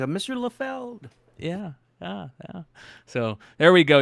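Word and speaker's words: Liefeld: It's Lefeld, Rob Lefeld. So I can't wait to see him. So I can say, Mr. Lefeld.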